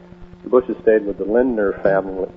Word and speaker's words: Lindner: uh the Bushes stayed with the Lindner family Lindner family which is a they own Chiquita basically. Chiquita used to be uh United Fruit. All right, would you uh pronounce that name once again? Uh Lind- Lindner.